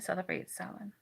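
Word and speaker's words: Samhain: spelled s m ha a i n it's pronounced Sal it literally means Summer's end um I'm always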